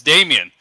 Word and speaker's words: Damien: Did I say his name right? Because You I did always say no. I You always said say the wrong. it's Damien.